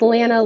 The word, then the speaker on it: Lana: Yeah, I went through all of kindergarten being called Atlanta, but it's Lana like Lana Banana.